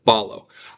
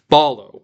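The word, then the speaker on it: βάλλω: I mean, it's even spelled the same way. Beta, alpha, lambda, lambda. Ball. Okay, so that should be pretty easy. Ball. Balo means to throw.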